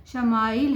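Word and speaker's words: ישמעאל: خوشخبری سنا دی گئی۔ عبرانی زبان میں اسماعیل کا تلفظ شمائیل ہے۔ شمع کے معنی ہیں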